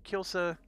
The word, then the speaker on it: Kielce: Kielce is coming up. Now, I'm pronouncing it that way because that's what the little general dude did when he was explaining the mission. I would have called this Kielce, but I can learn, I promise.